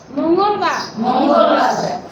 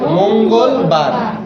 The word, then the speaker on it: মঙ্গলবার: মতো উচ্চারণ হবে না, ময়ে ওকারের মতো উচ্চারণ, মঙ্গলবার, বলেন দ না, কিন্তু ধ, বুধবার, কিন্তু আমরা বুধবারই বলি বেশি, তাড়াতাড়ি বলতে গেলে বুধবারই বলি।